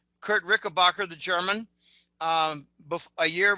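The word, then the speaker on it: Richebächer: Um, I've actually met Kurt Ricker, which is actually pronounced Rishbasher. Kurt Rickabbacher, the German um a year before I started the newsletter.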